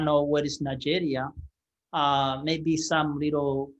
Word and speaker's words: Nigeria: So when African hear that in English, they did not know how to pronounce the way British were saying it. So they just say Nigeria, like Nigeria, it's just two different words, but together.